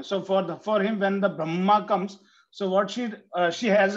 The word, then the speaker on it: Brahma: Ask them, don't hurriedly say Brahma. No, don't say Bra. You pronounce part 7. Don't close the mouth. Brahma. Automatically it comes.